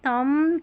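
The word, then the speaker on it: thumb: एम बी में भी क्या है, ये बी साइलेंट, एम बी ऐसे आखिर में आएगा और बी साइलेंट है, पढ़ लिया ना। लैम, थम, क्लाइम, कॉम, बॉम, तो यहाँ पर बी साइलेंट है।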